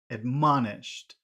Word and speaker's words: admonished: and how about admonished which syllable has all of the sound in admonished admon man you're right admonished admonished just ma admonished okay so now